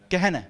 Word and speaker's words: Gehenna: say it wrong sorry governor is that okay Gehenna thank you and this was a place of